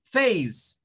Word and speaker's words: face: tenemos acá por ejemplo la palabra Face que es para referirse a un rostro o la cara no te se mire que la e no suena No es fácil No